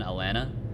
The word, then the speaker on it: Atlanta: So if you say like I don't know, like the city I live in, Atlanta, what you would want to do is pronounce both T's, and then it kind